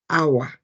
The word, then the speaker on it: hour: examples H an hour because it is pronounced our thus a vowel sound an our of time